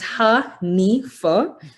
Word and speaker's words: Hanifah: It's Hanifah. So that's the pronunciation of my name.